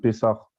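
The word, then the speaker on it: Pessah: Donc ça s'écrit P-E-2-S-A-H et ça se prononce Pessar.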